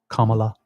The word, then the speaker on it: Kamala: me about the pronunciation it's Kama like comma Kamala so somebody was mention